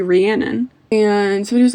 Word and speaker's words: Rhiannon: And I just made up my own pronunciation of Rianon. It's supposed to be Rhiannon.